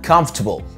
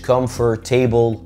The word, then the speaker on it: comfortable: تاني حاجه معانا هي كلمه مريح بالانجلش اسمها comfortable مش comfortable. comfortable. طب واحد يقول لي السر فين؟ الاو ار اللي هتطلع على الشاشه ديت ما بتتنطقش.